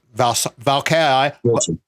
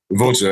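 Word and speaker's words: Vâlcea: I cannot pronounce the CS Valkai. Vulture. It's like Vulture, V-U-C-H-A. That's how I tell people. V-U-L-C-H-A. Vulture.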